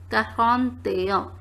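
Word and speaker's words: quarante et un: want they are so what is called current and one is off and in between we are taking eg so 41 will be pronounced as that font they are 51 as 50 is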